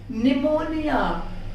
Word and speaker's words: pneumonia: निमोनिया, PNEUMONIA, निमोनिया, एन से पहले पी आया है तो वहां पर पी साइलेंट कर देना है।